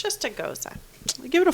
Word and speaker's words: Gose: found out was that I was pronouncing Gose wrong. Gose doesn't have an accent mark. And I know we had a debate about this like way before. Yes. Goza is actually German rooted. So it's Goza, not Gose.